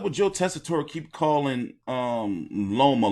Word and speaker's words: Loma: By the way, what's up with Joe Tessitore keep calling Loma Lomo?